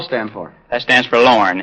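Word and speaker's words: Lorraine: name was I'd say Lauren Ray they said how you spell it l r a i n e Leni no I said it's pronounced Lauren I'd have to go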